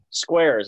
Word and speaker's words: Skweres: we have uh grayson skiers is that how you say it squares like the shares okay squares where can they find